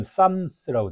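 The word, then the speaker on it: Psalms: 있고 시편이라고 불리는 그 영어는 sams라고 되어 있잖아요 근데 앞에 p가 이제 묵음으로 돼 있어서 헬라어 쌀 모이라는 단어에서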